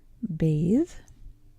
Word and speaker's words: bathe: Now, when you're pronouncing a word like bathe, you will notice that your tongue is doing a lot of the work to pronounce those last three letters. Bathe. Your tongue will actually, if you're paying attention to it, you will notice that it lifts up and will touch your top teeth at the front.